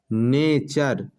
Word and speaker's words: nature: इस वजह से लास्ट में यहाँ चर का उच्चारण आ रहा है, कल्चर। नेचर, NATURE, टी के बाद URE आ रहा है, नेचर।